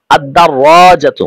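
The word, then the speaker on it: الدراجة: তখন উচ্চারণ হবে এরকম আদাররাজাতুন অর্থ হলো সাইকেলটি এখানে লাম হরফটি উচ্চারিত হবে না কেন কারণ আমরা জানি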